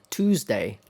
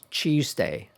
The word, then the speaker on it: Tuesday: Tuesday. Tuesday.